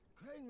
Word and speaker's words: Crane: Crane rhymes with train.